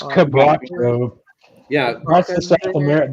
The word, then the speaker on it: quebracho: I don't even know how to say It's quebracho.